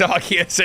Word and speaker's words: Arceus: answers for this and it's not yes it's arceus and yes his eyes i'll give you chances of this it's arc as in archangel not arse as in arse it's arc it's arceus it's the archangel it's arc uh it's an